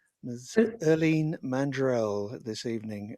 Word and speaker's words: Irlene: erleen mandrell this evening i hope i pronounced that correctly it is nigel i was going to help you but you got it right it's so weird to people because the spelling's so different well i don't really